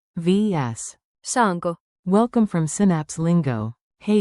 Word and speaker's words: Saanko: Say it on 2 beats. Saanko? Now loop it. Saanko, saanko, saanko?